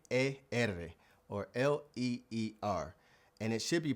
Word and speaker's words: leer: l e eer or l eer and it should be pronounced leer leer. Now, when you look at it, you might think it says Lar, but again, it starts with le.